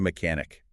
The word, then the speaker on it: mechanic: And a quick pronunciation point there, that CH in mechanic. Oh, yeah, good one. It's usually a hard K sound.